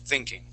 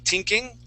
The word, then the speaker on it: thinking: Try that th sound. Thinking. Thinking. Thinking. All right. Thinking. Thinking. Thinking. There you go. That's it. Okay. Yeah. Before you were saying tinking. Okay. But yes, it is thinking.